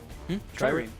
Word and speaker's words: Trireme: Trireme.